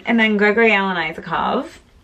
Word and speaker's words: Isakov: Like, and then Gregory Alan Isakov. Or Isakov, I'm not really sure. I watched a video today and they pronounce it Isakov, so maybe I've been saying it wrong this whole time.